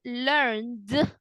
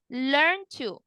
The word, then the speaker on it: learned: going to sound I learn to learn to no learned to learn to like this learn learn to you don't pronounce the d okay let me ask